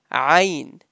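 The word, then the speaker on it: ع: Ayn. pronounced from the middle of your throat.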